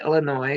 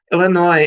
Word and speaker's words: Illinois: It don't pronounce the S. Illinois at the Sears Center, 5,000 plus people who were looking to be entertained with some amazing wrestling on that night.